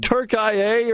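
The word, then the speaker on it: Türkiye: Yeah, the Like Turkia or something. Turkeye is the pronunciation the the country of Turkey has asked the world to give them.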